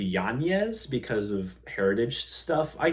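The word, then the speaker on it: Yanez: Jonathan Martinez fight that he uh changed the pronunciation of his name to yanes because of Heritage stuff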